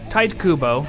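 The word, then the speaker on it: Tite Kubo: handled this much worse TI Kubo which apparently that's pronounced that way I don't know why ta Kua seems to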